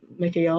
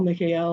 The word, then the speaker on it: Mikael: So the the divine names will be Mikael, Mikael, Mikael, which is a a pronunciation of Archangel Michael's name. There's many pronunciations throughout the world. And the emphasis is on the L, Mikael, Mikael, Mikael.